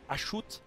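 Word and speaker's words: Hashut: l'aide il s'agit d'cho ou achute si vous préférez mais ça se prononce acho dieu mineur du chaos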